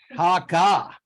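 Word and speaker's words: Hácha: I'm going to say, I'm trying to pronounce Czech words, Hacha, Haka. Okay, Haka. And we got it from the Czech authority here, so I am ready.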